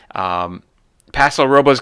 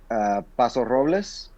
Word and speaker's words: Paso Robles: Paso Robles, California, the first show sold out.